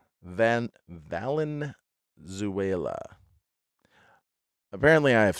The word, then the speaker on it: Valenzuela: even mention how great he was ah Fernando Venezuela van Valenzuela apparently I've said it wrong in the past